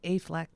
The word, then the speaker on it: Affleck: I think it's pronounced Affleck. Ben Affleck.